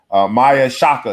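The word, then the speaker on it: Maia Chaka: Maya Shaka is how you say her name.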